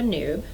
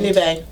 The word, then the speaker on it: Nube: So I came in here and I bought 3 skeins of Malabrigo Noob. And Nube. thank you. The problem is even though that's the correct way to say it, Or in Roanoke, Virginia, we can say whatever we want.